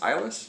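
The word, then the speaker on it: Iles: name uh which was francis ilis i think that's how you say it i-l-e-s eyeless perhaps um anyway a little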